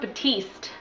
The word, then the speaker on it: Batiste: talking about hair care, and I believe it's pronounced Batiste.